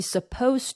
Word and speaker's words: supposed: 우리 얘는요 이 ed 소리가 떨어져요. 그래서 be supposed to be supposed to 이렇게 되고 강세는 suppose, be supposed to 이제 이렇게 되시고요.